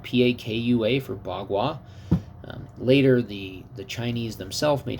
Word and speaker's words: Bagua: And so, like, instead of Pakwa, P-A-K-U-A, and then you just have to know that P's are pronounced B's and K's are pronounced as G's, which there's several of those in the Wade-Giles system.